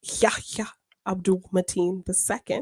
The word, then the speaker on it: Yahya Abdul-Mateen II: Also, we got some casting of Yahya Abdul-Mateen II. Is that the correct way of pronouncing it?